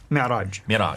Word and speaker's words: Mi'raj: Mi'raj.